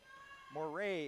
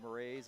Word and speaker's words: Marais: staff of the store wait Marais is how you pronounce number five so I said Murray's and I want to get that mistake out of there and send